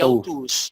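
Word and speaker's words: αὐτούς: Y autus, autus. Autus. Siempre el diptongo omicron úsilo se pronuncia U.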